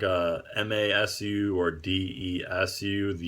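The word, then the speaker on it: です: So like desu is actually just des, and masu is just mas.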